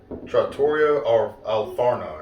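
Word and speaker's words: Trattoria al Forno: be now you're gonna have to help me pronounce it you just said it trattorio or alfarno yes at boardwalk it's at the boardwalk resort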